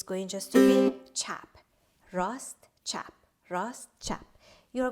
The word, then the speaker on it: chap: spelt like r a s t rust and chap spelled like c-h-a-p rost chap ross chap crossed chat